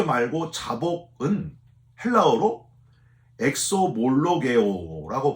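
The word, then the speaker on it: ἐξομολογέω: 회개 말고 자복은 헬라어로 엑소몰로게오라고 발음을 하는데요.이 엑소몰로게오라고 하는 말은 고백하는 걸 뜻합니다.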